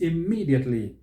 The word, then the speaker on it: immediately: how about the word immediately immediately immediately stress is on the second syllable so don't say immediately immediately immediately no it is immediately how about this one